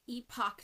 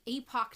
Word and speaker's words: Epoch: And this is the year that depending on your pronunciation, the Epoch Times is published. The Epoch Times. The Epoch Times. It's super epic. Epic is just what I default to.